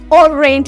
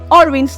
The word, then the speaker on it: orange: So okay, it's not orange, it's orange. Take note of its pronunciation,